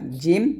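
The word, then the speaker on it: جيم: উচ্চারণ পারবেন আর এটা জিম জিহবার মধ্যখান উপরের তলার সঙ্গে লাগিয়ে আমরা উচ্চারণ করব জিম এরকম ভাবে আমার সাথে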